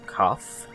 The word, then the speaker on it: Caph: Alright, so back in the Ivory Tower, we will potter our way forwards back to Captain Caph. I think his name is pronounced Caph, that's how it's spelled, C-A-P-H.